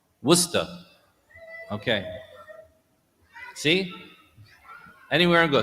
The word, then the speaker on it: Worcester: Do you say the R or not? Worcester.